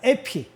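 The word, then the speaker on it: ἐπί: 에피. 영어로 에피라고 읽어요.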